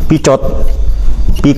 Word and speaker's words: Picot: Jadi Sykes dan Picot ya, orang Prancis kan begitu bacanya.